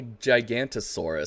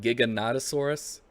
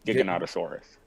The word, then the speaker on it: Giganotosaurus: had the I thought it was called a gigantosaurus so but it's they call it Giganotosaurus that is the correct pronunciation yes Giganotosaurus which apparently is bitten a bigger and meaner